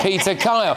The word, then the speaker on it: Peter Kyle: You don't want to mispronounce that name. It's Peter Kyle.